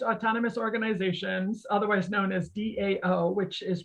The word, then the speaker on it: DAO: daos are decentralized autonomous organizations otherwise known as dao which is pronounced dao and a decentralized autonomous organization are